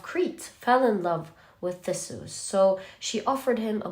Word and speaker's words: Theseus: Theseus, yes, that's how you pronounce this name, is a hero who was amongst the ones presented to Minotaur.